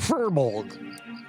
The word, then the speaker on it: furbolg: a pearl fertile bog fur fur bulga oh furbolg there you go hey it took me a